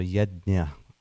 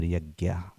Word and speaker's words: yajna: So yajna or yagya, whichever way you pronounce.